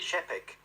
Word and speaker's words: Čapek: A Czech playwright called Karel Čapek, I think you may pronounce it, C-A-P-E-K, he wrote a play called R-U-R.